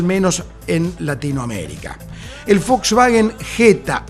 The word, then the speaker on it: Jetta: en Latinoamérica el Volkswagen Jetta o Jetta porque su pronunciación fonética era precisamente jeta sinónimo de mala suerte